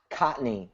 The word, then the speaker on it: Kontny: your last name conney cotney it's it's like the uh it's like the first n is silent cotney yeah yeah k